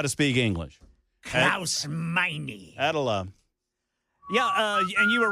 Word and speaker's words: Meine: Oh, Meine.